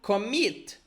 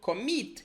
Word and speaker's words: commit: For example, commit. You see the stress in the second syllable? Commit. It's not commit. It's commit.